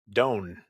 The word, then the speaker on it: DON: Also, someone asked how I pronounce the name DON, and I pronounce it Doan.